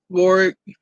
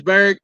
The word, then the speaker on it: Barrick: Warwick, that's about the way it should be. Barrick. Oh, it's Barrick.